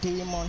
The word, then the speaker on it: daemon: We have the user thread and the demon thread if you are to call it by the definition that was there online is demon to call it.